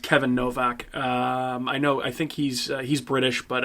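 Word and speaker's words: Kayvan Novak: it's spelled Kayvon, Kayvon but Novak? I believe it's supposed to be pronounced Kevin Novak.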